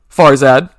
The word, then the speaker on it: Farzad: Farzad.